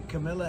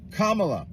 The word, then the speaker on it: Kamala: he says K's name you know that the Camila Harris K La Kamala if you really want someone to listen to